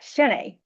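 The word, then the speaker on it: shiné: It looks like shine. The word shine, it just has an accent on the end, which I don't know how to do on my computer, make those accents.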